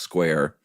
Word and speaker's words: Squier: It is spelled Squier, but he swears it's pronounced Square. I'm really impressed, man. I had not come up with that one. Or he swore it was pronounced Square.